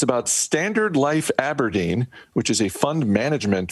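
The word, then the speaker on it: abrdn: They're telling us A-B-R-D-N is pronounced Aberdeen and not, as I first looked at it, as a burden.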